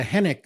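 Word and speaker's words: Henwick: were talking about was Jessica henck of course you did not pronounce the W and she's becoming a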